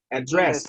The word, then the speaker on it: address: but this okay but make sure uh you pronounce the word having the stress on the first syllable address okay sorry on the second one on the second one the second one address first right what's the